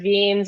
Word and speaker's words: Vignes: people pronounce it um i've heard veens i've heard vignese uh i think that's probably the way that you would pronounce it if you were from uh where they're from um but however people